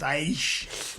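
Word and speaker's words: Æ: You know, the AE that's pronounced Aish.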